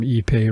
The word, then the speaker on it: ipe: more refined it's called ipe ipe it is pronounced ePay and it's basically a